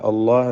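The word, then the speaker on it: الله: അല്ലാഹ് എന്ന ഇസ്മുൽ ജലാലയിൽ ലാമിന് തഫ്ഖീമാണ്. തടിപ്പിച്ച് പറയാം.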